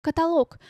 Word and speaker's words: каталог: Каталог. Всё, что налог. Каталог, монолог, кроме аналог.